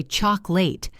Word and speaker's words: chocolate: Take the word chocolate. We say chocolate. The middle becomes a schwah.